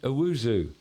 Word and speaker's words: Owusu: We're talking to Precision Plumbing, but now we have Bryce Owusu.